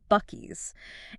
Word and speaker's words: Buc-ee's: B U C- Ee apostrophe s but pronounced Bies.